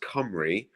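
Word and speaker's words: Cymru: uh Wales in Welsh is Camry so it's pronounced comri but it's spelled simru so like the the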